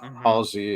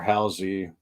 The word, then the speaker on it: Halsey: I know you probably know Amy Lee from Evanescence, but Halsey is, or Halsey, I hear it pronounced both ways.